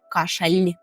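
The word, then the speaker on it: kaszel: як в українському ль кашаль А пов'єми кашаль кашаль якщо ви добре почули то л воно наше таке специфічне Так це не кашель український це кашель кашель як навчитись вимовляти звук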